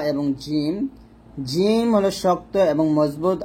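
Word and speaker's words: ج: জিমের মাখরাজ হলো জিহ্বার মধ্যখান তার বরাবর উপরের তালুর সঙ্গে লাগবে। তার মানে জিম যখন উচ্চারণ করবেন দাঁতের সাথে কোনো সংযুক্ত নেই, দাঁতে লাগবে না, জিম এরকম।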